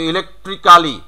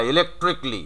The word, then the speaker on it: electrically: তারপর এটা যেমন আছে ইলেকট্রিক্যালি, Electrically. হ্যাঁ ইলেকট্রিকলি, নট এটা এটা এটাকে মাইনাস করো সবখান থেকে, সেম নিয়ম।